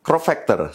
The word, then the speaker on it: crop factor: disebutkan mirrorless atau mirless yang benar adalah mirrorless crop Factor sering salah disebut sebagai crop ftor atau crop